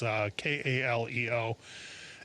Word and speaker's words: Kaleo: New material wise, there's a band out of Iceland called Kaleo that, well, actually I'm not even sure how to pronounce it. We think it's either Kaleo or Kaleo. It's Kaleo, and they came out